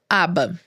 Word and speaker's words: ABA: Bom, e aí dentro dessa sala, dentro dessa profissional, você tem o projeto próprio ABA. É dessa maneira que pronuncia?